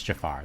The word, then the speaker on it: Jafar: let's do shank well i don't know how you just said jafar's name but that is how you spell it it's jafar though that's how you say it yeah everybody used to